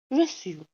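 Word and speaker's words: reçu: तो अब जो यू के साथ हमने प्रोनाउंस किया है इसको, तो वो प्रोनाउंस हम थोड़ा सा सॉफ्ट करेंगे, वो ऐसे नहीं होगा जैसे हम यू को प्रोनाउंस करते हैं यू। ठीक है, उसको हम बोलेंगे रेस्यू, थोड़ा स्मॉल, थोड़ा सॉफ्ट।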